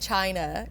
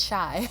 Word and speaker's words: Chy: No, you said China. You would be like China, and she's like Shy because it's spelled CHY.